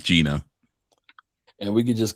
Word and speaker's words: Gina: Not not not Giana, Gina.